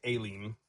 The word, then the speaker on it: Elim: in fairness to the Hebrew, in fairness to both the Hebrew and my beloved co-host, the proper pronunciation is Elim, which is what you landed on.